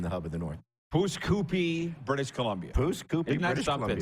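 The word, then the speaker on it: Pouce Coupe: broadcast, and I never get your hometown properly pronounced. Pusacoopi? Pusacoopi.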